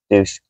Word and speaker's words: Deutsch: Deutsch. I mean, I pronounce it English, which is just douche.